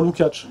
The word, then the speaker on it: Lukács: faut pas dire est jeune il faut dire lukacs on n'est pas être l'accent tonique comme on est en droit mais diffus